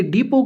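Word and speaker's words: depot: आपने याद रखना कि डिपो की स्पेलिंग है डी ई पी ओ टी इसमें टी साइलेंट रहता है डी ई पीओ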